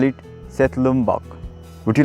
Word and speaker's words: Setlum-bhak: In Limbu language we call it Setlum-bhak. Would you like to pronounce? Please follow me. Setlum-bhak. Setlum-bhak.